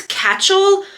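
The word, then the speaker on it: Kachel: Brand is Catchel. I'm pretty sure that's how you say it. It looks like it's spelled like Rachel, but with a K, in a size 18W.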